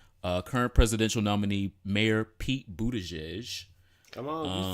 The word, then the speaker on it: Buttigieg: With that being said, about presidential nominees, current presidential nominee Mayor Pete Buttigieg.